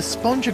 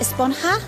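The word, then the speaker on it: Esponja: what this whole the sponger grande thing has been about huh actually it's pronounced a spawn ha with an H sound at the end the we've all been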